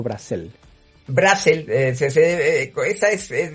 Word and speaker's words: Brassel: Eh, se sea es es de la vuelo, era francés, entonces se debía pronunciar Brasel, pero el eh mi padre siempre lo pronunció Brasel y ya se nos quedó así.